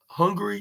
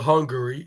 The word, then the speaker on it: Hungary: movie in in this country called Hungry yeah not hungry but Hungary Hungary like with a r i mean with a A in it like instead of instead of a e like hopefully I pronounced